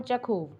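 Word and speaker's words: Chekhov: ये जो चैप्टर है proposal, it is written by Anton चेखोव। Anton, you are spelling CHEKOV, चेकोव।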